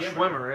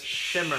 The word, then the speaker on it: Schwimmer: Not Not Schwimmer, it's Shimmer. Schwimmer? Isn't it all the same? I'm sure it's Shimmer.